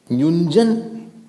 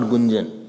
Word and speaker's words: युञ्जन्: Yunjan, not Gunjan, Yunjan. Don't pronounce.